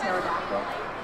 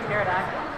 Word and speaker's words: pterodactyl: The pterodactyl. Why'd you pronounce the P in pterodactyl?